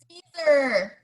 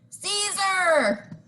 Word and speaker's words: Siser: each and every time is how to properly pronounce. Say it, Catherine. Siser. Say it one more time for the people in the back. Siser. Siser.